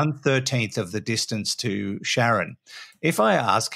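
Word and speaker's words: Charon: talking about Pluto and Sharon I think that's how it's pronounced or k c h a r o n we'll call her Sharon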